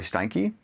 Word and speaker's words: Steinke: My name is Jared Howe, and I'm here with Steinke. Is that how we pronounce it?